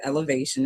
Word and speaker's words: Elevation: The name of the band is Elevation. It's spelled ELEV, the number 8TION. If you're looking for us